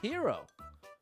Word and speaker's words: gyro: Is that how you say it, gyro? This is cool. This is actually very cool. It's pronounced hero.